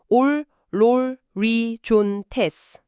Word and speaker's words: ὀλολύζοντες: 올, 롤, 리, 존, 테스. 올롤리존테스. 와, 이거는 입술이 동그랗게 모이면서 앞으로 축 튀어나오고 뭔가 안으로 쪼그라드는 느낌이에요. 정확합니다. 아까 그 아 발음과는 다르게 오 발음은 입을 둥글게 모으고 좁게 수축시켜야만 낼 수 있는 소리거든요.